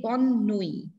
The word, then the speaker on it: bonne nuit: That consonants that come in the end are not pronounced. T is what? T is a consonant, right? So when it lies in the end, we do not pronounce it. That is why we say bonne nuit.